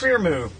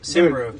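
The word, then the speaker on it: Cymru: Krimu. That's not right. Simru.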